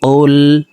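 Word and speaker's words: قُلْ: দেখুন, কফ লাম পেশ কুল, হা পেশ হু, কুল হু। আমরা অনেকে কুল পড়ে থাকি, কুল। দেখুন, কফ হরফের উচ্চারণ জিহ্বার গোড়া তার বরাবর উপরে তালুর সঙ্গে লাগাইয়া পড়তে হবে।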